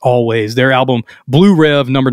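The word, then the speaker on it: Alvvays: v's so it's it you would think it's all vase but it's actually I read a couple places actually pronounced always their album Blue rev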